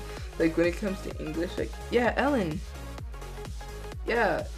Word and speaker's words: Ellen: And people start blaming Ellen. Oh wait, I'm stupid. Yeah, because Cure Beat, Eden, Ellen. I'm pretty sure they mistake R's. When it comes to English, Ellen. Yeah, not Eden.